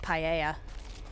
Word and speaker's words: paella: I've never heard it pronounced like that. I forget what it is, but exactly, but I've only ever heard it pronounced paella.